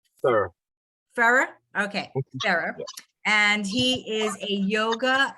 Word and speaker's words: Ferrer: Did I pronounce that correctly? Sir. Ferrer? Okay, Ferrer.